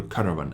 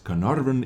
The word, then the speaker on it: Caernarvon: burn action X or Caravan action X as I like to call it but Carnarvon is as close as I can get to the correct pronunciation of this vehicle and test them I